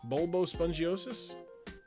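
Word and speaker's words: Bulbospongiosus: Bulbo Spongiosis? Bang. Yeah, okay. I've been trying to pronounce that in my head for 3 days.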